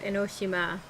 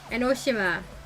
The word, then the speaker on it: Enoshima: they say the word enoshima they say enoshima they put the emphasis on the she and not the no i watch the anime and they pronounce it enoshima henoshima junko it's